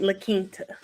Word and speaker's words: La Quinta: And she just taught me how to pronounce it, La Quinta.